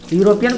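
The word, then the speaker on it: European: यूरोपियन, यूरोपियन एक है यूरोपियन, यूरोपियन को हम लोग कैसे बोलते हैं, यूरोपियन, यूरोपियन, तो क्या लगेगा इसके पहले, ए लगेगा।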